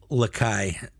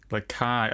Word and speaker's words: Lakai: James's last name is pronounced Lakai. Lakai. Oh, like Lagai. Like Lagai, but with a C.